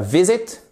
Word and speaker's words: visit: Accent tonique, vous voyez ici l'apostrophe qui signale l'accent tonique sur la première syllabe. C'est pas visit, c'est pas visit, mais c'est visit, justement.